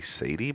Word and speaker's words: Sadie: And I was like, I think it's supposed to be Sadie, but it looks like sad.